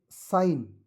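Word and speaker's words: sign: देखिए साइन इसमें भी यह अंडरलाइन करोगे जी साइलेंट है।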